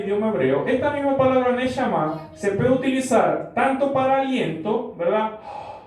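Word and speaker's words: נשמה: Es la pronunciación correcta, neshama, que significa ¿qué cosa?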